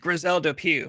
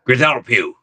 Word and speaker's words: Grizelda Pughe: It's pronounced Grisel Pew, right? That's right. Yeah, Griselle Pew.